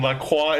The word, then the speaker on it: LaCroix: Wait, did you say LaCroix? Is that how is that how Americans pronounce it? Yes, that is how. Yeah. That is how it is officially pronounced. That is the correct way to pronounce it.